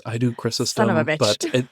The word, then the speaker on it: Chrysostom: Everyone has different pronunciations. I do Chrysostom. Son of a bitch. But it's... Chrysostom.